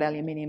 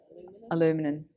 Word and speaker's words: aluminium: But anyway, it's not aluminium, is it? Aluminum. Never can get that right.